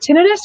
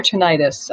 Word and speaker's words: tinnitus: open to being wrong there is no incorrect pronunciation they're they're both i like that they're both accepted i say tinnitus and